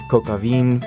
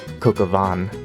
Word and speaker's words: Coq au vin: I was saying Kokavin, but apparently it's pronounced Kokavan.